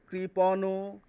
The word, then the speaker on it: কৃপণ: লক্ষ্য করুন পরের তিনটি শব্দ এটি কিন্তু কৃপণও নয়। এর পাশে কোন তারকা বা স্টার চিহ্ন দেওয়া নেই। এটিকে কিন্তু হসন্ত উচ্চারণ করতে হবে। শেষের অ এর উচ্চারণ করা যাবে না। এটিকে বলতে হবে কৃপণ।